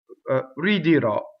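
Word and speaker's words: ridirò: Ridirɔ, right? So that is an open O. And this is a non-typical stress ending on the last syllable.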